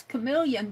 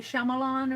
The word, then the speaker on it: chameleon: but thank you RT I know how to pronounce chameleon because of RAR was it you arear that I did a chameleon for and I called it a shamalan or something hi Elizabeth Elizabeth from